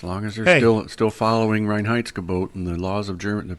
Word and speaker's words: Reinheitsgebot: But, Reinheitsgebot. Reinheitsgebot. Very good. Sound it out. 3 syllables.